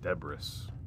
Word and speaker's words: debris: It's definitely not spelled the way it sounds, that's for sure. Debris.